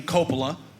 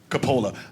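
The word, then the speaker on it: Coppola: Sophia and Francis Ford they pronounce their name Copa we pronounce it Capa actually both ways are correct because it's a very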